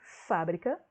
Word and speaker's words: fábrica: verbo fabricar então ó o primeiro é sempre fábrica com acento eu tenho substantivo a fábrica é